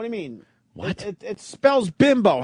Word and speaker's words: Bimbo: It's pronounced Bimbo, and there's a whole commercial. You should play the theme song. It's ridiculous. There's a commercial? Oh, yeah. Bimbo. But it's Yeah. spelled bimbo. But they say it like, hey, a bimbo.